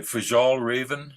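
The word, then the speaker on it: Fjällräven: uh a store called if I get this pronounced this right fajal Raven I think it's I think whether it's uh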